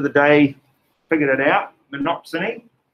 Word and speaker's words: monopsony: day figured it out monopsony which again does sound like the banana song exactly yeah here we